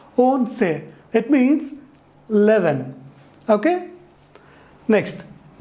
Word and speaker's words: once: is 11 in English oh and see is pronounced as once once means one time however this ONC in Spanish is pronounced as won't say it means Levin okay